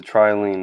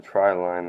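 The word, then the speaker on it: Trilene: So that is the tri-lean knot, or tri-line knot, depending on how you pronounce it.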